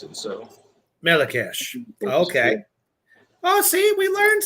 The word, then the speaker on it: Melechesh: Pronunciation would be Mehlekesh is how you would pronounce it. So Melechesh.